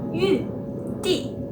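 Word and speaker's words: 玉帝: E qual que é a pronúncia do nome imperador de Jade? É Yu Di.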